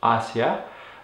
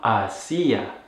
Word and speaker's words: hacia: So it's important to pronounce it with the stress on that first syllable for the word hacia, and not hacia, which is actually a verb and not the preposition.